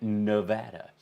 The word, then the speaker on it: Nevada: covid in nevada um not nevada as the president pronounces it along like with uh plasma um and if you'll recall he had a big brain fart about nevada nevada they pronounce it nevada here they're very firm about that it's like you know